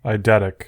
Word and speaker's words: eidetic: How do you pronounce it? Eidetic memory? Eidetic.